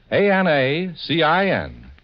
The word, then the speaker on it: Anacin: It's spelled ANACIN.